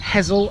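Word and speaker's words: Hessle: s in its name we've had hessel and we've had wrestle as well and some people pronounce that hazel and rezzel so really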